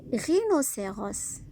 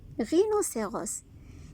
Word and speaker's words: rhinocéros: Des rhinocéros. Regardez ici, R avec I. H ici ne fait aucun son. Des rhinocéros.